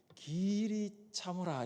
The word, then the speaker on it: 길이 참으라: 이것을 발음할 때는 길이 참으라 이렇게 하면 안 되고 길이 참으라 이렇게 되죠. 길게 발음을 하는 거죠.